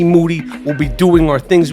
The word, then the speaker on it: Moody: Toronto me and G Moody last name rhymes with duty Saturday August 4th in